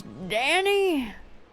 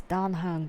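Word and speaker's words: Dan Heng: may I help you my name's d any no it's D hung if you're trying to pose as me you got to say it correctly greetings we're the nameless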